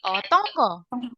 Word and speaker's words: 어떤 거: udah bisa baca Hangul, huruf N ini kalau ketemu G dibacanya jadi eng 응, gitu hmm. ya. Jadi otonggo gitu.